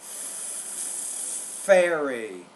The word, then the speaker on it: fairy: fan, van, But it's fairy. 2 syllables. Fairy.